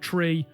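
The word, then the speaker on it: three: And yes, I said tree without a H. I'm Irish. That's how we pronounce it.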